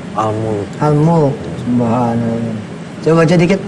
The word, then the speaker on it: Al-Mulk: Jadi senang aja bacanya ya. Oke. Kalau Sutardi apa surat yang paling disukain yang sering dibaca? Al-Muluk. Al-Mulk.